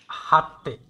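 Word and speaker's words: hätte: হাটটে, এই যে এইটা হবে হাটটে।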